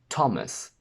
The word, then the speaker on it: Thomas: There are very few exceptions where th is pronounced as a simple t. We have Thomas, Thames, time, Thailand, and potentially just a couple more.